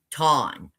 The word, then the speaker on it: tam: Now, the word perfect in Job 1:1 is the Hebrew word ton, but it's spelled T A M, but pronounced T A W N.